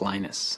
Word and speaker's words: Linus: speak finnish it's linos when i speak english it's linus and i really don't care how people pronounce my name but linux is always